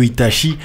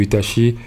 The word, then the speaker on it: Itachi: Azaya, à aller sur les pages de Kyo Itachi. Donc Kyo, ça s'écrit K-Y-O, Itachi, I-T-A-C-H-I.